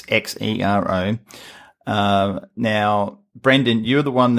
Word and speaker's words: Xero: Australia, and that is Xero, spelled with an X, Xero.